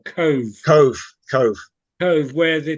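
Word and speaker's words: Cobh: and certain parts of cork were great absolutely wonderful places to go to and we've been we've been down to I think they pronounce it co or Cove Cove Cove Cove where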